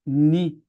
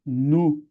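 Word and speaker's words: νῦ: Então alguns vão colocar que o nome da letra é ni, outros vão colocar que é nu, mas ela é nu. N. Estranho, não é? Porque não tem na nossa língua.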